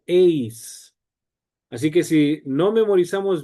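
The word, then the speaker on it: εἰς: El número 1 en griego masculino es heis. ¿Por qué esto es importante? Porque hay una preposición que se pronuncia eis.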